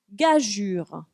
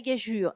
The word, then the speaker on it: gageure: Gageure. La gageure. Alors en fait, on a admis deux manières de l'écrire. La manière qui existait, donc EU, et qui se prononce bien gageure et pas gageur, et la manière de